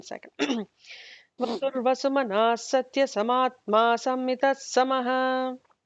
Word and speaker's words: sammita: Vasur vasumana satya samatma sammita samaha. Sammita samaha. Not double S.